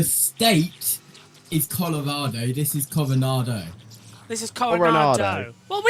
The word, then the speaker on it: Coronado: That's how you say it, Coronado.